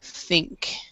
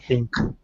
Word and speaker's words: think: So ing and ink. And so be careful about when you say thing that you're not saying think. So Alexander, could you say thing? Thin Okay. and think.